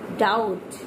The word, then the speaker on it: doubt: Next is doubt, doubt, doubt, d o u bt, pronounce with me, doubt, doubt, doubt, d o u b t, doubt.